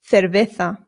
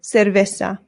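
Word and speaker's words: cerveza: One other good drink to know is cerveta. Cerveta. Don't worry if this pronunciation is scaring you. Remember the C's in Spanish make a th sound, but the zeds do as well.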